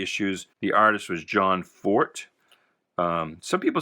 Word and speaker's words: Forte: the artist was john forte some people say forte it does have an e on the end but i believe it is pronounced for but this was done